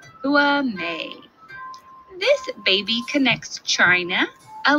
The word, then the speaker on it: Hua Mei: Days after her birth, a little panda receives her Chinese name, Hua Mei, pronounced Hua Mei.